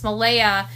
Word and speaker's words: Malehya: Malehya I always mispronounce her name, but it's Malehya. Malehya, that's it, Malehya.